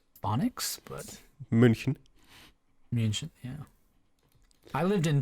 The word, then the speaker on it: München: Lots of good intersections, and München also on the map there, if I can try to pronounce it with the correct phonics, but München.